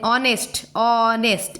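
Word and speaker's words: honest: Then ऑनेस्ट इधर तक होता है, H का प्रोनाउंसिएशन नहीं होता है, H साइलेंट हो जाता है।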